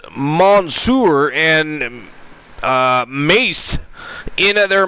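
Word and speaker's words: Mansoor: male models mace and Monsur now produced or sorry pronounced as Monsour and uh mace in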